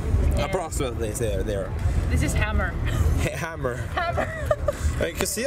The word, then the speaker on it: Hamar: How do you say Hamar? Like, so this is the main city? It's Hamar. Yeah, Hamar. Oh, okay. Or Hamar. Hamar. Yeah, Hamar. Hamar.